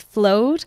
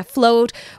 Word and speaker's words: Flowd: end some people get the name wrong it's flowed yeah people pronounce it wrong so yeah flowed we're on LinkedIn um and yeah mainly our